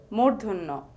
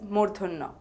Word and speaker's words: ণ: the next letter is Muno the pronunciation is similar to the na in the English word rain the letter is mun